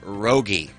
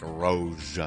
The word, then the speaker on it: Rogge: group today together is it is pronounced Rogge. Yeah. Rogge. For years, I have seen your name written and not spoken. So in my mind, I've always thought it was like Roge or Rogue or Yeah, something.